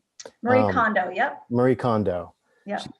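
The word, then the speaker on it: Marie Kondo: um forget her name I'm not going to pronounce it correctly but Marie coni is that right Marie condo yep Marie condo yeah she or there was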